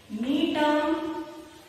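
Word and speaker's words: Gnetum: Examples like cycas, pinus, neatum. See the spelling of neatum, students? Cycas, pinus, neatum, G is silent.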